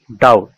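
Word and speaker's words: doubt: কোন শব্দে কনসোনানের পর বিটি থাকলে এর উচ্চারণ টয়ের মতো হবে, এক্ষেত্রে বি অনুচ্চারিত থাকে। যেমন ডাউট, ডিওইউবিটি, ডাউট, ডাউট মানে সন্দেহ।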